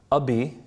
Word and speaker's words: Abi: Can you the IBN, can you respell that full name again? Yeah, so it's Ibn, IBN, Abi, A-B-I, Daoud, D-A-U-D.